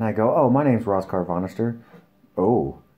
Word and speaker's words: Rascarvonestir: your name and i go oh my name's ross carvannister oh how do you spell that and they thought i made that up